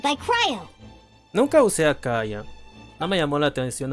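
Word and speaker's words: Kaeya: Kaya. Así se pronuncia.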